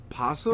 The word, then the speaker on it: opossum: I always thought it was like opossum. You know how like it's spelled with an O, but everybody just says possum?